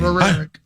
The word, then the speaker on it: Rourke: Rourke.